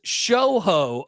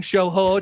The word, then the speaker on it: Shohei: plays MLB The Show, and he purposefully incorrectly pronounces everyone's name. So he's talking about he's like Shohei Ohtani, but he says Shoho Ohtani, Mhm. and people will comment in. Why is this guy saying Shohei Ohtani?